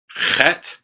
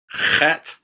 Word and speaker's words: Chet: Chet. This is one of the more difficult ones. Chet. It's almost like you're scratching your throat.